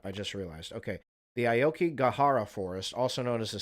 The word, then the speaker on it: Aokigahara: Why do people commit suicide in the Aokigahara Forest? Gahara. Damn it, Gahara. Shit, I thought I was saying it right. Aokigahara Forest.